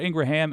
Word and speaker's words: Ingraham: by the way I used to say that name wrong Midas Touch corrected me thank you Laura Ingraham and Rupert Murdoch said about you do you